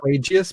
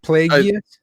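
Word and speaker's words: Plagueis: I always say Plagius because like because it's spelled like plague in that. Yeah. Okay. So how do you say it? Plagius. Plagius.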